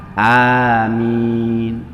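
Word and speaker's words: آمين: Yang benar itu adalah amin, amin. Antara a dan min itu sama ya.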